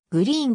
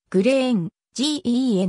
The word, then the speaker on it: Green: 女優モデル身長 168cm グリーンは緑のや緑色を意味する英語のグリーンとは関係がなくスウェーデン語で枝を意味する紅蓮に由来するその発音も正しくはグリーンではなくグレー塩 gen だというパリにて二卵